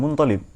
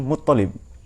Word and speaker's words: Muttalib: Ada yang nyebut Muttalib, ada yang nyebut Muntalib. Tapi yang lazim Muttalib. Saya membaca Muttalib itu dikritik itu. Kurang bacaannya yang mengkritik. Jadi Muttalib, Muntalib, Muttalib. Tapi yang lazim dipakai adalah Muttalib ya.